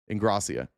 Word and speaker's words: Ingrassia: Um, here's uh, Paul what Ingrassia, right? That's how you say it. Ingrassia.